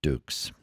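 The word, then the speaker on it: Dux: Of course, the film was all bullshit and stuff, but Frank Dukes is my understanding, is that's how it's pronounced, as Dukes.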